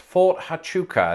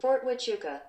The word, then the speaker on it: Fort Huachuca: So I think it's pronounced Fort Huachuca, and if it isn't, you can call me Ethel. Fort Huachuca. No way! There's a silent H in it.